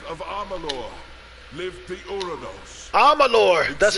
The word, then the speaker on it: Amalur: in the use of armalor lift the oronos amalor that's how you say it from the hill